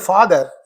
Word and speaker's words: father: But in this word father, it falls on the first syllable.